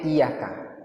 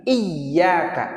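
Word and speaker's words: إِيَّاكَ: jumhur bitasdid ya ya imam qiraah sabaah dan jumhur ulama membacanya pakai tasdik di huruf ya Itu bacaan yang paling benar jadi iyaka ah enggak boleh iyaka tapi iyaka itu yang paling benar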